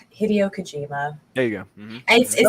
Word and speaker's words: Hideo Kojima: I feel like I was always going to say his name wrong. Hideo Kojima.